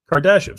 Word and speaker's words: Kardashev: Kardashev, see, that's how you say it.